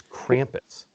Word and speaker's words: Krampus: And he's probably like, it's Krampus. Oh, my God. Can you just get it right? We've known each other for 80 years. I think you're purposely pronouncing it wrong.